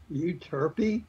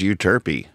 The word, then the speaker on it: Euterpe: Pronounced euterpe. Euterpe?